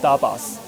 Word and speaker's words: Tapas: Its pronunciation is closer to the English "Dabas" and it's the plural